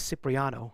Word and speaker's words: Cipriano: full name but my name is cipriano that's four syllables as it is and